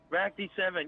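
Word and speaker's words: Ractii7: call me my username so really that simple RAC d7 yeah you pronounced it right alright probably not gonna be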